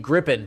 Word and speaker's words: Gripen: It's Gripen and it's Bombardier.